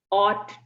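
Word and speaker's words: ought: कैन, may, must, shell, will, ऑट टू। The pronunciation is ऑट। आपका GH यहाँ silent है, ये मैं डिटेल में आपको सारा एक्सप्लेन कर दूँ।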